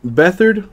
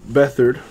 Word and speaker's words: Beathard: with a quarterback now CJ Beathard I think is the pronunciation for that it is a printing plate autographed I'm only going to assume it's a one of one the CJ Beathard let me go ahead